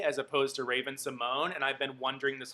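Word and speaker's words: Raven-Symoné: and the cosby show was on and rupaul pronounced her name as raven sommanye as opposed to raven simone and i've been wondering this whole time is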